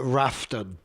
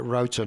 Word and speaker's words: Roughton: Now you might get a bit of confusion as to pronunciation because the scientists, the geologists, pronounce it Rafton. That's their guess, R-A-U-G-H, that's their guess. But actually the locals pronounce it Roughton, is what I found out by going there.